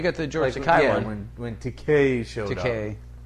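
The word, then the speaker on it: Takei: keller yeah you got the george went to k rhymes with toupee as you said in the shatner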